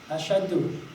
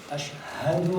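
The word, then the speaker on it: أشهد: But now, if he doesn't pronounce it right, and he says, Ashadu, he doesn't make the ha.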